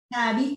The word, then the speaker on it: Tabby: Tabby, the H is silent.